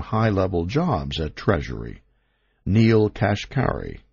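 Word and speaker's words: Kashkari: jobs at treasury Neil cash carry pronounced cash carry started out as a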